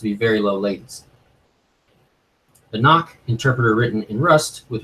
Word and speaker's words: Nock: of the step history you can pronounce that star as knock if I'm not mistaken